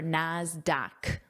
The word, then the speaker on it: Nasdaq: I wrote that pronunciation here so you remember, Nasdaq with that k sound.